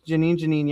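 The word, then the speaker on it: Jenin: I don't know how you properly pronounce that. Do you, homeboy? That's correct. That's Janine.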